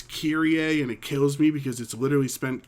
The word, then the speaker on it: Kyrie: there's this one girl her name is kyrie a and it kills me